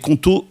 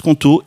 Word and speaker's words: Qonto: Avec Conto, fini ce problème.